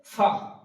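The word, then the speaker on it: فاء: তারপর আছে ফা, ফা উচ্চারণ করার সময় আমরা করব ফা, ফা। উপরের যে সামনেকার দাঁত, ওই দাঁত নিচকার ঠোঁটের উপরে লাগিয়ে উচ্চারিত হবে ফা এবং একটা বাতাস বেরোবে মুখ দিয়ে, সিটির মতো নয়, জাস্ট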